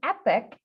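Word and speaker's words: epoch: or in between so epic is spelled e-p-o-c-h it does not mean great and grand and wonderful but we can totally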